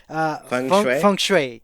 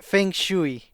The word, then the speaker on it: feng shui: think the the there's I heard this pronounced different ways but I think it's oops what's it again feng shui yes right yeah cuz I also heard Feng shooey it was funny so I think that